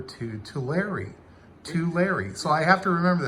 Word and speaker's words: Tulare: And I have to say, Bill, help me remember the correct pronunciation as I'm writing a letter to Tulare. Tulare. So I have to remember that. I was calling it Tulare.